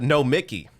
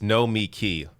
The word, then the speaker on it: Nomiki: all right good job no mickey look i probably even said her name wrong in the beginning of this it's no me key i i think that's